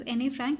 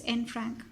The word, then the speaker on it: Anne Frank: Please don't pronounce it as Anne Frank, it's Anne Frank.